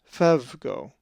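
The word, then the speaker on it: φεύγω: A Greek word that has the epsilon epsilon is phevgo, which means to flee, and is number 5343. The accent is over the epsilon in the epsilon epsilon diphthong, and it is pronounced phevgo.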